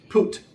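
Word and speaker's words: Phut: And the sons of Ham, Kush, Misraam, and Poot, and Canaan. Yes, that is you pronounce it. P H U T is pronounced P, not P. Put you got to say it like that.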